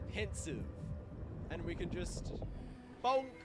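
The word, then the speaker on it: Pensieve: So when it's pensive, I haven't heard characters say it. All I've done is read it. And because it's a made-up word, I've just been, I guess I've been saying it wrong my whole life. It's a pensive.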